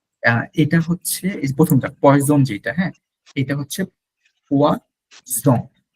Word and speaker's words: poison: হ্যাঁ বলতে যাচ্ছিল কিন্তু পোয়াসন, কিন্তু বলে ফেলছে পোয়াজন। জাস্ট একটা উচ্চারণের জন্য জিনিসটা পুরো উল্টে গেছে।